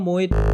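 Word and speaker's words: Moët: This is the full form: Louis Vuitton Moet Hennessy. Moet बोलते हैं या Moe बोलते हैं, it's up to you, but this is how it's pronounced.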